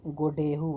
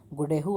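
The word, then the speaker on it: Godeheu: तो उसके बजाय जो है ना गोडेहू आता है, इसका प्रोनाउंसिएशन जो है आप अच्छे से देख लीजिए, गोडेहू आता है।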